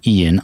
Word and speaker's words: Ian: Kenny Albert calls hockey, that's Marv's son, and then there's a guy named Ian Eagle, spelled Ian, I-A-N, but he pronounces Ian Eagle.